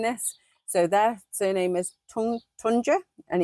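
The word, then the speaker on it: Tuncer: So their surname is Tunda and it's spelled T U N C E R but it's pronounced J.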